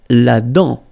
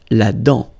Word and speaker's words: la dent: La dent, final T, not pronounced. La dent.